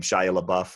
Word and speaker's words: Shia LaBeouf: it I forget how you say his name Shia LaBeouf is how you say his name who's really